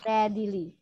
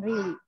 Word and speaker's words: readily: Readily. Itu dibacanya readily, bukan really. Readily.